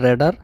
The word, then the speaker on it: রাডার: এই যে আমার পেছনে যে দেখছেন দুইটি জিনিস ঘুরছে, এগুলো হচ্ছে রেডার। যদিও বা আমরা রাডার নামেই চিনি, কিন্তু এটা সঠিক উচ্চারণ হচ্ছে রেডার।